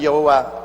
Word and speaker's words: 야훼: 왜냐하면 원래 일을 행하시는 여호와 그 일을 지어 성취하는 야훼 하나님이신데, 야훼라 해도 좋고 여호와라 해도 좋습니다. 그러나 야훼란 말이 더 정확한 발음입니다.